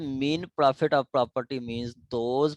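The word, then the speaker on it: mesne: ठीक है, इसको हम अपने सिविल सेंस में हम देखेंगे कि मीन प्रॉफिट क्या है। यहाँ पे मीन इसको क्या पढ़ते हैं, एस जो है साइलेंट है। कहते हैं मीन profit of property मींस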